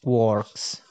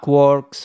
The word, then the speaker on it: quark: in finnegan's wake three quarks for master mark discriminate discriminating physicist rhyme the word with storks not larks even though the later is almost certainly the pronunciation joyce had in mind the fundamental simplicity of